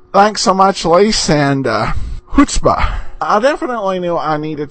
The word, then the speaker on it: chutzpah: It is chutzpah. The CH is pronounced like the H, and I know I've probably said chutzpah a few times.